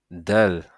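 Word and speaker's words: دال: Donc ça c'est la lettre dalle. D'accord ? La lettre dalle. Donc au niveau de la prononciation c'est l'équivalent du d en français.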